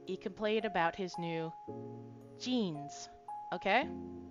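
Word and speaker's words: じん: So, he complained about his new jeans.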